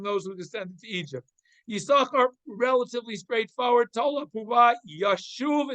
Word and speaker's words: Yisachar: Midrash says that's why we don't pronounce the second shin in Yisachar. Yisachar is never pronounced Yisaschar. It's always Yisachar. Even though there are 2 shins in the letter, in the word, or 2 sins in Yisachar, only one of them is pronounced, one is silent.